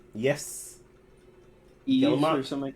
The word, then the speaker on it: Yves Guillemot: Yes, Eves Guillemot. or something like that. Yves Guillemot.